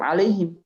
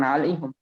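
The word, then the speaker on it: عليهم: dalam Hafiz ketika alaihim ya tetap alaihim, bukan alaihum. Tapi kalau di Warsh di Khalaf Imam Hamzah, ya, muridnya Imam Hamzah atau Imam Khalaf dari riwayat Hamzah. Imam Khalaf an Hamzah, ya, itu bacanya alaihum.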